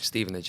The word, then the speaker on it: Stevenage: Now you came here from is it I pronounced right? Stevenage. Stevenage.